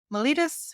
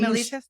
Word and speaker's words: mellitus: Mellitus or mellitus, I don't know. I think the British say mellitus.